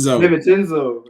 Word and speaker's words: DiVincenzo: Hey, DaVincio, when you see this, boy, you need to teach us how to pronounce that. DiVincenzo.